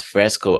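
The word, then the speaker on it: FRSCA: question I had about Fresco also and uh yeah that I also had um I was also trying to pronounce it I was saying F RS C but then I discovered this Fresco I wonder why they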